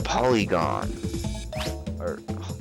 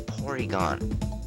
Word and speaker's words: Porygon: and eighty points all right this is a polygon that's a porygon dang it i hope i didn't say it